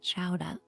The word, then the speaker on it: chowder: I think as they say in Boston, they pronounce it chowa with an ah at the end.